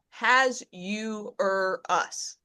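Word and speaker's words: Ahasuerus: the chat just so the phonetic phonetic pronunciation that at least the internet came up with and you will see if you open the chat it's as uh has you or us.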